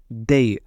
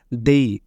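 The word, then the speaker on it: they: তাদের সুন্দর বাড়ি ছিল এখানে তাদের ইংরেজি হচ্ছে দেই তাদের ইংরেজি হচ্ছে দেই এটা অনেকে উচ্চারণ করে দে দয়কারে দে দয়কারে দে উচ্চারণ করে কিন্তু এটা সঠিক প্রোনাউন হচ্ছে দেই দয়কারে দেই রসই দেই ঠিক আছে তাহলে দে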